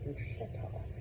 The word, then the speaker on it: bruschetta: of y'all, but you know the people that mispronounce Italian food here. Oh, it's gaboo. It's it's you know it's bret. It's actually bruschetta.